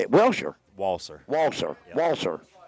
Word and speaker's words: Walser: Walser. Walser. Walser. just like it's spelled.